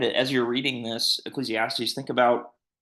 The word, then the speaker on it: Ecclesiastes: Ecclesiastes, that's how you pronounce that.